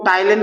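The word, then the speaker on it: ptyalin: एक तो है टाइलिन, इसको हम पी साइलेंट है यहाँ पे, इसको हम टाइलिन कहते हैं।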